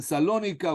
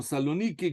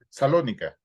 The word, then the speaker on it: Salónica: la comunidad judía de salónica no sé si dicen salónica o saloniki como ustedes lo pronuncian pero como como dicen Generalmente salónica salónica perfecto la comunidad de salónica